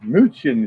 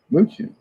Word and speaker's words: München: München is pronounced in Deutschland. München.